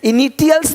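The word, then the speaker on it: initials: से वर्ण देखो तो टी का ध्वनि श होता है देखो क्या बोलते इनिशियल्स अब यहां पे टी आई है इनिशियल्स नहीं बोलते इनिशियल्स इनिशियल्स इनिशियल्स यानी इसी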